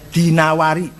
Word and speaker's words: Dinawari: dari kitab alimamwari jangan addainuri Bacanya dinawari jangan addainuri gak ada kotaainur ada dinawar alasm gak ada as